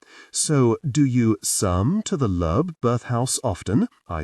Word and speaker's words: Loeb: It's Loeb, she said. Lub? You pronounced it Lub. It's Loeb. Looking at her perfectly made-up, suspiciously plump lips repeatedly saying the word made me want to giggle.